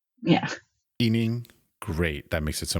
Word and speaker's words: He: as my surname so I just keep that pronunciation yeah so you can call me eing yeah ening great that makes it so much easier I'm